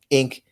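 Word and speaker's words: Inque: for the name inc it's spelled i-n-q-u-e and pronounced inc and i just think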